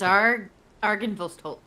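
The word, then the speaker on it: Argynvostholt: I don't think it's a TH sound.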